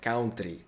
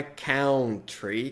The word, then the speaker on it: country: interior Ah tá e a pronúncia tá não é não é cão trair como a gente fala aqui no Brasil é country country Ok tranquilo passou até